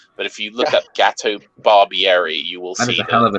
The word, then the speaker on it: Gato: if you look at gato barbieri you will see the name resent what's that yeah is that spelled like the cake it's no no no it's gato like cat in in spanish oh here he is